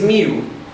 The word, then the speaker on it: mil: the first thousand uh in portuguese we say you pronounce that l like ooh so okay if you have two thousand you have to say says mu that's mew for ten thousand vintage mew